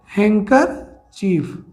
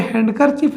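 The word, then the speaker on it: handkerchief: Area of square, square मतलब हैंकरचीफ, यहाँ पे हैंडकरचीफ नहीं होता है, हाँ यहाँ पे डी साइलेंट हो जाता है।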